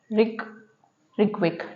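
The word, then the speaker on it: Reykjavík: अब जो Iceland country है इसकी जो कैपिटल है वो है रिकविक। ठीक है, अब इसमें जो यहाँ पर जो जी है वो साइलेंट है, इसलिए हम इसको प्रोनाउंस नहीं करेंगे।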